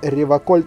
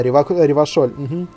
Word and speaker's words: Ревашоль: В отличие от других, он говорит Реваколь через К. Да, Ревашоль.